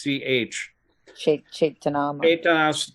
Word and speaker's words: Caitanya: Just for future reference C in the beginning of uh caitanas caitanya is pronounced C haitas okay so that's the